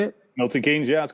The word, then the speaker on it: Milton Keynes: milton keynes is that how you say it milton keynes yeah that's correct um on the zone joshua